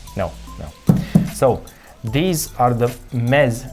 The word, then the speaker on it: Meze: So, these are the MEZE.